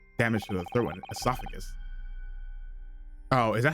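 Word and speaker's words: oesophagus: Okay, so it's a silent O in British English.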